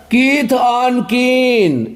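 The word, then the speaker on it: kith and kin: चलिए आज का चौथा वर्ड है कीथ ऑन कीन, जिसको AND को यहाँ पे एंड नहीं पढ़ेंगे, अन पढ़ा जाता है।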